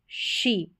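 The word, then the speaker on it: she: अगला वर्ड है नंबर 4 पर, एस एच ई, शी। इसका उच्चारण है हिंदी में शी।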